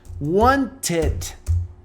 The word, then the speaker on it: wanted: Então a pronúncia, quando você colocar no passado, vai ficar wanted.